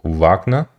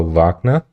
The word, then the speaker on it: Wagner: And I have received a lot of comments telling me that I should pronounce Wagner correctly. And they say something along the lines of Wagner. So I'll try to remember Wagner.